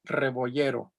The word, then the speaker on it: Rebollero: Rebollero. I'm sorry, I knew I was pronouncing it incorrectly because the double L is a Y sound.